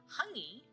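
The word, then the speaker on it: hāngī: Hungy is Hangi. It is another Maori word.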